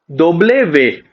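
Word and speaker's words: doble ve: डब्ल्यू को हम लोग बोलते हैं दोबले वे। DOBLE होता है इसमें। कहीं कहीं लोग स्टार्टिंग में कंफ्यूज होते हैं, इसको डबल बोलने लग जाते हैं, बट उसको हमेशा दोबले वे आएगा।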